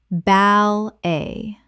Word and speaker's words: ballet: Bal-a. Two syllables with the t completely silent.